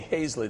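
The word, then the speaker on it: Hayzlett: Hazlett. Did I say Hazlitt? Hazlitt's fine. Hazlitt.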